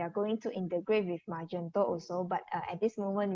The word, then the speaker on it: Magento: heiming that does zepty use uh magento their pronounced actually magento uh magento you mean is the the platform